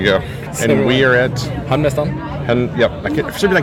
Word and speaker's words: Hamnmastaren: Hamnmastaren?